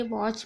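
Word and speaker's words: watch: वॉच means घड़ी, स्नेच मतलब छीनना।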